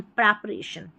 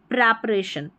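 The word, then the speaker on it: preparation: एन शन प्रप अरेशन प्रपरेशन प्रपरेशन ठीक है प्रिपरेशन की जगह प्रेपरेशन जो है यह सही उच्चारण है।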